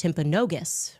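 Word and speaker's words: Timpanogos: Um I'm told actually it's pronounced Temponogus. Okay. Temponogus hospital.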